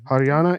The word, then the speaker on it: Haryana: Is that Yeah, how you pronounce it? Haryana. Yeah. Haryana, Northern India, Yeah.